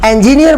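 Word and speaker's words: engineer: दोस्तों, कई लोग इसको इंजीनियर बोलते हैं, इंजीनियर इज not right pronunciation, इंजीनियर is right pronunciation.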